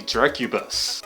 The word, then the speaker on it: Drekkubus: video this time I'm going to discuss the jerk Kubis and yes that is how you pronounce it phrase a pause if you got